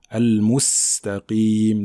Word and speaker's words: المستقيم: Il faut bien prononcer le sin de al-mustaqim, d'accord?